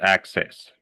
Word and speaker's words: access: The first C we pronounce like a C and the second one like an S.